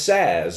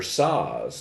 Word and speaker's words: SaaS: this puzzle which is known as SAS or saws depending on how you say it software as a service